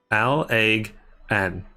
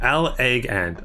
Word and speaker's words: Allagan: Ugh, why is that Allagan? Okay, Allagan. Okay. Ugh, sorry about that, guys. Ugh. Have the perils of life are an indication. Okay. Emphasis on the first syllable.